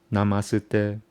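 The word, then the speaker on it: नमस्ते: You don't say na, ma, su, de. Why? Because it's connected by the top line. So you connect the syllables. So it becomes namasute, namasute, namasute, and it's the magic word.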